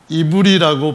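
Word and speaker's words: עברי: 본래 히브리인이라고 하는 이브리라고 발음하는 이 명사가 동사로는 어떻게 되어 있는가 하면은 똑같이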